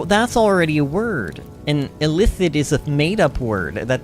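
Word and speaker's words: illithid: just think of it just think of the word elicit that's pronounced the same yeah but it's that's already a word and elith it is a madeup word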